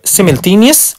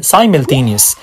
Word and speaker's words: simultaneous: اما الكلمة التانية ليها نطقين، بالبريتش بتتنطق simultaneous وبالامريكان simultaneous. simultaneous او simultaneous، وافتكر ان هي شبه كلمة the same.